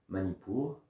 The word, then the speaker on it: Manipura: vers la colonne vertébrale, Manipur. Et puis on expire vers le nombril, Manipur. Une partie qu'on prononce mentalement, je répète, hein, j'insiste. Une partie, le A muet, qu'on entend mentalement.